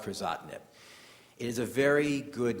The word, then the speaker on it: Crizotinib: It also ends in the 2 letters IB, so it rhymes with Erlotinib. It's called Crizotinib.